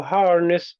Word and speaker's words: harness: And which in the word harness, which syllable has all of the attention? Har harness Harness. ness Harness.